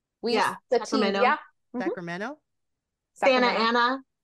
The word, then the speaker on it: Santa Ana: Santa Ana. We don't pronounce the T's.